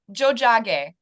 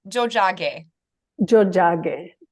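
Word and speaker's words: Tiohtià:ke: of them and it's it's pronounced Jo Jo oh fantastic Jo Montreal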